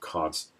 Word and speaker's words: Kant: Yes, that's right, Kant. That's how you pronounce it. Not Kant, not Kant, not Jones, but Kant. It's a German name, and I'm quite happy